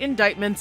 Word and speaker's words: indictments: everyone is talking about indictments and we will too like why is there a c in that word and why isn't it